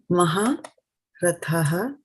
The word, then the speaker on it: mahā-rathaḥ: This is tha for thali. This is ta for titli.